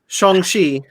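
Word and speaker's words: Shang-Chi: yeah okay uh apparently we've been pronouncing this name wrong for decades shongi yep uh is is in the legend of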